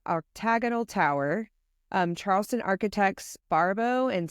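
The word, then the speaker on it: Barbot: so I don't know Barbo and sale is how yeah yeah Barbo sounds French Barba bar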